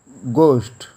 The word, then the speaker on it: ghost: Ghost, G-H-O-S-T, ghost. In this word H is silent.